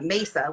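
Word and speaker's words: Maysa: of my younger sisters her name is uh mesa which is table in spanish right but it's spelled m-a-y-s-a so strange that's that's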